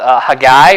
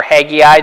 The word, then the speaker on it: Haggai: There's this whole book of prophecy called Haggai or Haggai, depending on how you want to pronounce it, which is basically like, what are you guys doing?